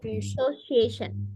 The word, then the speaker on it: association: Student Association. Association. Ini C-nya kayak huruf S aja. Association. Sos, sos aja, Miss.